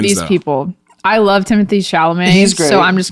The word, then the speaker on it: Chalamet: We have Adrian Brody in The Brutalist, Timothy Chalamet.